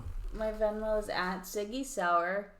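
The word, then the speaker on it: Saur: My Venmo is at Siggy Sour. Sour is spelled S-A-U-R. It's not Sauer. It's not Sawyer. No one can get my name right. What's wrong with y'all? But it's like sauerkraut.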